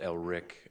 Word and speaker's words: Ellrich: It's pronounced Ellrich, although it's spelled Rich, and his company, Morgan Financial Advisors.